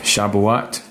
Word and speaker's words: Shabuat: Shabuot, but it's spelled Shabuat.